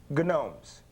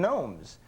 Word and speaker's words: gnomes: into now is garden gnomes. And I thought you pronounced the G in gnomes. And she started laughing. I said, what's funny? She said, the G, you don't say.